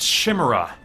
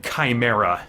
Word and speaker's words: chimera: I remember when I was in college, I thought chimera was pronounced chimera. Someone very graciously corrected me, and whether they were being honest or not, they said that they thought my pronunciation was really cool. But alas, I did have to adapt to chimera.